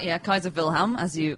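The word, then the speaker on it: Wilhelm: who Kaiser vilhelm was so K yeah Kaiser vilhelm as you correctly pronounce it Kaiser vilhelm thei uh was Kaiser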